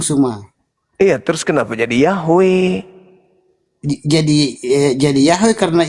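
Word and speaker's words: Yahweh: itu Bang Suma hancur sudah ini Bang Suma Bang Suma itu bukan pengucapan yang ee kurang tepat yang paling tepat pengucapannya itu Yahwe.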